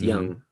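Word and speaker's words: Yonge: know how to say young street oh it's it's spelled y y-o-n-g-e but it's pronounced young oh you couldn't spell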